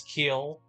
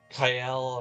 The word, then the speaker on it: Kiel: With Rune Factory 4, it was Kiel or Kiel, or I pronounce it Kiel.